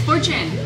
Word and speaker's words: Fortune: Is it Fortune? Fortune. Yeah. Fortune? Fortune. Fortune. Fortune. No, it's Fortune.